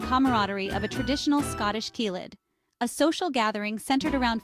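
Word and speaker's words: ceilidh: of a traditional Scottish keid a social Gathering centered around folk music and dancing teids pronounced KES are a vibrant part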